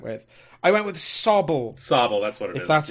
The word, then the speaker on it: Sobble: Sobble, that's what it is. That's how you pronounce it.